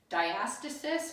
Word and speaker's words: diastasis: Diastasis or diastasis recti are the 2 ways that people will pronounce that.